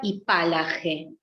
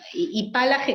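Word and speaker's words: hipálage: Resonancias de la antigüedad, que tiene aparte materialmente algo muy atractivo, que es ese acento esdrújulo y la H muda y la fuerza de la G, ¿no?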